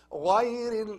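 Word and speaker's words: غَيْرِ: Not غير like GH in English. We read it as ga. No. It's غا. غا. As you put water in your mouth and you move this water like غا. This is its place, the place of غا.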